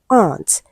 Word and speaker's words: aunt: Option b we have aunt. Now letter A is R.